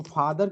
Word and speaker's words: father: बोलते हैं, FATHER, तो फादर के केस में देखिए क्या होता है कि आर साइलेंट होता है, यहाँ ध्यान दीजिए।